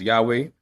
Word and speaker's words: Yahweh: of the broader audience, today we'll pronounce the name of God as Yahweh, which is familiar to many people around the world. You know, normally when we do our Bible study, we'll say Yehovah, but again, for the